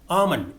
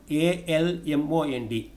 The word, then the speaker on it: almond: not known in pronunciation almond a-l-m-o-n-d almond not almond almond comfortable comfortable not comfortable